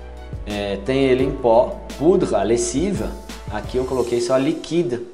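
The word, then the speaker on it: lessive: Lessiva, até o V, não pronuncio E.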